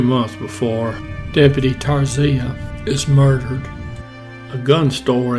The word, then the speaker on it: Tarsia: the pronunciation of Deputy Tarsia's name, every news account I listen to trying to figure out how it should be pronounced, they all pronounced it different. So I'm going to go with Tarsia.